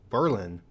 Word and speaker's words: Berlin: first see this word you'll probably think of Berlin Germany first however in the U.S we do things a little bit differently whether you're in New Hampshire or in Maryland it's Berlin another old city that